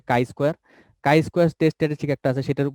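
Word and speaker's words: chi-square: এটা না, এটার উচ্চারণ হচ্ছে কাই স্কোয়ার।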